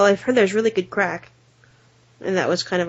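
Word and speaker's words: craic: a word like that sounds like the word crack but it means like just talking and and parlins and shooting the and stuff yeah it's crack yeah but it's spelled Celtic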